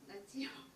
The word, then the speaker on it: Natsios: Natsios. Am I pronouncing right?